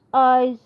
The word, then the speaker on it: Iseo: It is pronounced Iseo.